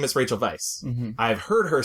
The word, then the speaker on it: Rachel Weisz: say her name is Rachel Vice one time I changed my name because um I pronounce it Vice my dad pronounces it Vice and it's a w and in England there